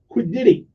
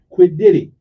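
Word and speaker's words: quiddity: it's like a anyway it's spelled q u i d d i t y quid didy quid didy okay now what does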